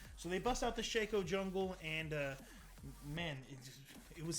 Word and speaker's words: Shaco: They break out a Shaco, which is pronounced Shaco. We have a clear definition. It's Shaco because his clone is called Faco, so it's not Shaco. We have now had clear delineation that it is Shaco.